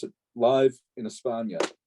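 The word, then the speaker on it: España: pronounce it live in espana how did i go live in aspana it's it's um that's just the way that the the the spanish say spain yeah so and i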